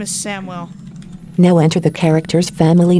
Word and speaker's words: Samwell: This character's name is Samuel Tarley. Is this okay? Juno It doesn't really Jo- say it right. healer. Samuel? Cancel. It says it Sam wrong, yeah. rename, please. His name is Samwell.